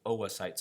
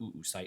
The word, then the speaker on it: oocyte: Oocyte's not oocyte, it's pronounced oocyte.